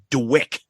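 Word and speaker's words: DWYCK: and the song for some reason is called dwick it's spelled d-w-y-c-k I have no idea why it's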